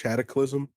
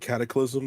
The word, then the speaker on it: cataclysm: It's pronounced cataclysm. Oh, cataclysm. My bad. Yeah, like cataclysm.